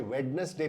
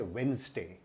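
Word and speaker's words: Wednesday: अगर आपने बहुत सारे भारतीयों की तरह इसे वेडनेसडे पढ़ा तो ये गलत है, क्योंकि इसमें डी साइलेंट होता है और इसका सही उच्चारण है वेंसडे।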